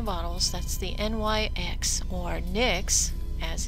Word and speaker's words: NYX: tubes and the bottles that's the NYX or Nick's as it's supposed to be pronounced tinted moisturizer and yes du petit do